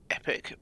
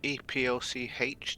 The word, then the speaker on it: Epoch: Apparently it's pronounced Epic, but EPOCH to me says Epoch.